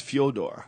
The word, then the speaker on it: Fyodor: It's actually not even Fedor. Do you know that's what we call it? It's Fyodor. Yeah. A Russian friend of mine from Jiu-Jitsu was explaining how you actually say his name. It's Fyodor. Yeah. Like Dostoevsky, It's like, that's like it, but we call him Fedor because it's like easier.